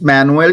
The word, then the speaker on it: Manuel: My name is Manuel.